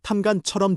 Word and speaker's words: ทำงาน: ทำงาน 은 일하다. 한국어 탐관처럼 들림.